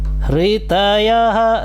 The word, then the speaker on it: हृतयः: श्री भगवानुवाच प्रणवेन व्याहृतयः हृतयः रि ह बोलना है आपको, श्वास बाहर की तरफ छोड़ना है। जब आप श्वास बाहर की तरफ छोड़ेंगे तो ह का स्वर बनेगा और फिर उसको री का उच्चारण करना है। तो हृतयः एक महाप्राण, हकार जो है महाप्राण है, तो आपको बाहर की तरफ श्वास छोड़ते हुए री का उच्चारण करना है। तो हृतयः इस तरह से आपका उच्चारण आ जाएगा।